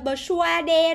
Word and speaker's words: persuade: Viết thì rõ ràng là chữ S-U-A nè, các bạn thấy không? Đấy, đọc là persuade rồi persuade gì đúng không? Đúng không? Xem nào. Ôi, đọc dễ sợ luôn. Persuade. Nó là âm sour các bạn, persuade, lừa đảo ghê luôn ấy.